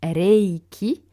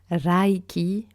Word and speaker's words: Reiki: Donc, en japonais, Reiki se prononce donc Reiki avec un E allongé, presque un peu comme un accent grave sur le E. Et alors attention, on ne dit pas Raiki ou Raiki, voire même Raiki.